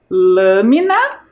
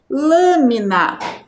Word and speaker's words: lâmina: e a antepenúltima la vamos realizar a leitura da palavra lâmina vocês conseguiram perceber Qual é a sílaba mais forte quando nós pronunciamos essa palavra é a sílaba L vocês é foi essa